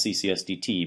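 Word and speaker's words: CCSD(T): with perturbative triples CCS usually just pronounce ccsdt because so people actually use the full triples that even though it's parenthesis you just say t uh that's the old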